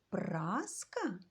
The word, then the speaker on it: праска: цьому слові теж 2 на який склад падає наголос промовляємо це слово неначе запитуємо праска на перший склад зробіть звуковий аналіз слова